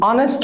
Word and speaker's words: honest: Mostly when H is silent. જેમ કે an honest man, an heir, an R, an honor to me.